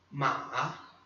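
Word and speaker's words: 马: Ma, terceiro tom. Ma, né? Desce e sobe, aquela tremidinha na sílaba.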